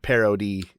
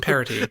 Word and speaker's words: parity: You said parity, not parody. Oh, yes, parity. Sorry. Not with lots of parrots. Parody. Gender parity. Sorry. It's the Michigan parity, accent. yes. We soften the D and the T in the middle of words.